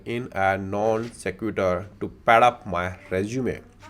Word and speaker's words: non sequitur: He also went to IIT Delhi, my mother said in a non squeater, not squeater, secutor to pad up my resume. Secutor, let's see the pronunciation of this word. Non sequitur.